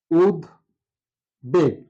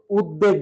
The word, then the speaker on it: উদ্বেগ: আর বাস্তু মুক্তাক্ষর তো আমরা এই শব্দটা এভাবে উচ্চারণ করতে পারি বা লিখতে পারি উদ্বাস্তু আছে উদ বেগ এই শব্দটাকে আমরা কখনো উদ্বেগ বলি না যদিও বলা হয়েছিল যে ব ফলা